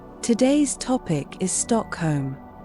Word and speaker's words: Stockholm: The correct way to say Stockholm in Swedish is actually just Stockholm.